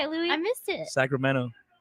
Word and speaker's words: Sacramento: louie i missed it sacramento so it sounds more like a d yes sacramento you know i feel